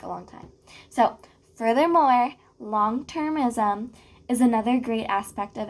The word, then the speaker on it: longtermism: I was saying like longitarianism. Like I don't even know what I was saying. Longtermism. So like over the long term, like a long time. So furthermore, long-termism is another great aspect of PHC.